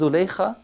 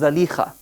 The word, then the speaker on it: Zalikha: Nabi Yusuf in the Quran and the wife of the Aziz, usually we refer to her as Zulaykha, although the more correct pronunciation is Zalikha.